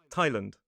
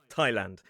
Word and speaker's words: Thailand: in some dictionaries it does say you can pronounce it as Thailand. Personally, I say Thailand.